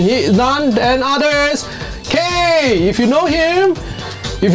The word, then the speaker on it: Kaye: K-A-Y-E. Yeah. So Then some people will pronounce Kaya. No? Hey, yeah, Kaye. Kaye.